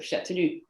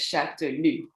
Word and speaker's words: Chastellux: And I just want to make sure for Americans, because people tend to say Chastellux, because that's how you write it, but you have to pronounce it as Chastellux.